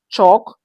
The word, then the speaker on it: chalk: Examples: walk, talk, chalk, yoke. The L in these words before K is silent.